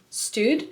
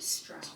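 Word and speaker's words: Staud: And then these little tighter jeans, I call them smart jeans, are from Stude Stout.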